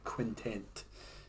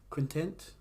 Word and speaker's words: quintet: Like I said, I heard that they described themselves as an LA-based punk quintet. Quintent. I still haven't pronounced it properly. It's not a 5-person tent. It's a 5-person band.